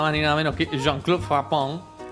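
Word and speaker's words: Jean-Claude Frappant: Y quien está aquí es nada más ni nada menos que Jean-Claude Frapon. ¿Lo pronuncié bien? Très bien.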